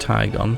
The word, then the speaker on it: Tyon: we got the tyon I'm sure it's pronounced tyon because it's uh based on the damazo concept car and they tend to